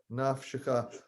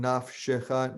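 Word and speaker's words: נַפְשְׁךָ: So you know that the shva vowel before the cha there in nafshecha needs to be sounded because it's its own syllable. Naf is one syllable, and the sh is a separate syllable, and the cha is a syllable. So 3-syllable word.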